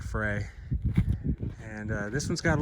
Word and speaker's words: Frey: I think it's pronounced Fry, even though it looks like Frey.